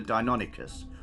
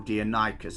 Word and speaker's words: Deinonychus: based their dinosaur on was something called a Deinonychus or Deinonychus. I'm not entirely sure how you guys would like to pronounce it. I've heard a few different pronouncements, but Deinonychus is good enough.